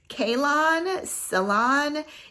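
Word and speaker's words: Calone: It smells a little fruity because I think it's pronounced Ceylon, it's C-A-L-O-N.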